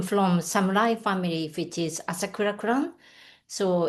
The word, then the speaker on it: Asakura: Did I pronounce that correctly? Asakura? Asakura.